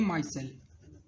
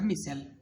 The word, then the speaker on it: micelle: ये जो अरेंजमेंट हो जाती है सोप मॉलिक्यूल्स की, इसको हम बोलते हैं माइसेल। ठीक है, या मिसेल, जो भी आप प्रोनाउंसिएट करें।